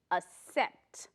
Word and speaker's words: accept: accept A-C-C-E-P-T 是接受，它这个字是动词 accept，请同学们念这个字的时候特别注意一下 A-C-C accept，不要念成 accept，第一个 C 没有发成可的音，它就是 C-A-C-C 发一个 accept，发一个死的音 accept，OK，下一个 underground.